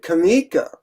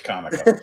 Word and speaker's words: Comico: And he said he pronounced it Kamiko. Like one of the guys that started it. Did you ever hear that? Well, he's wrong. It's Comico.